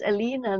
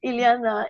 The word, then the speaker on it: Ileana: I have to introduce Alena now Indiana sorry I kept mispronouncing you Juliana Ileana is some very special